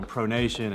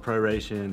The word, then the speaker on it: pronation: know focus you know pronation and supination and all these terms that people are like what does this mean exactly or they come in and mispronounce it and call it proration and probation and so really what